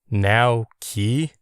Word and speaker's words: Nauki: "Now-ki?" I pronounced it the way I heard it. Now as in right now, and key as in the thing you use to lock your hope chest.